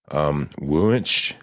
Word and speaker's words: Wunsch: Detective Wunsch, damn, I don't know how to pronounce that shit. What is it, babe? Don't do that to me. It's Wensch.